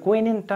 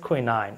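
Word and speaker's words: quinine: তিতা আমরা ছোটোবেলায় পড়েছি তো কুইনিনটা হচ্ছে British pronunciation কুইনিন বাট the American pronunciation is কুইনাইন okay কুইনাইন এই একটা অ্যাকচুয়ালি এই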